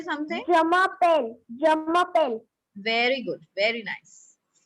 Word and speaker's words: je m'appelle: The pronunciation of Yamapel. Yamapel. Like we say bell, bell in English. Similarly, we call it here pel.